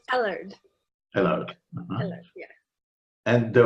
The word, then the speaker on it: Ellard: Is that the way you pronounce it, Ellard? It's Ellard.